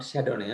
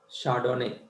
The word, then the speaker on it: Chardonnay: Not Chardonnay, huh? Chardonnay. Chardonnay.